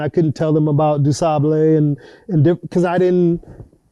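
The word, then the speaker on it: Du Sable: by a haitian immigrant named jean baptiste dusabo is what we say but he said dusable so i said what did you say so it's jean baptiste yeah wow that's how i pronounce it now there could be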